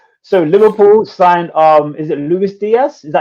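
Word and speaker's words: Luis Díaz: Yeah, so Liverpool signed is it Luis Diaz?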